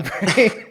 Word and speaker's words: Brain: It still trips me out that is actually how that's pronounced, but okay. Alan Brain, the Scottish-Peruvian filmmaker from the Congo.